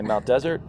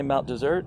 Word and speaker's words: Mount Desert: We talked about it because there's only one S. Some people say Mount Desert, but locals say Mount Desert, and we think it's a holdover from the naming of the island.